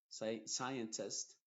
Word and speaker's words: scientist: Y en palabras que empiezan con S, C, I, la C es muda y la S es la que se está pronunciando.